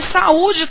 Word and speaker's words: saúde: que acentuar e é por isso inclusive que saúde também tem acento porque quando eu separo saúde nós teremos saúde quando eu pronuncio saúde nós identificamos a sílaba tônica saúde